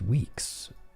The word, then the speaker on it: WEX: It's pronounced Weeks. Weeks? Oh, WEX is Weeks. Well, you know what? I pronounce it WEX.